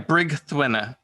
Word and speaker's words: Brigthruina: Yeah, Brigthruina. Brigthruina. Yeah, So it's kind of Brigthruina. a Welsh pronunciation.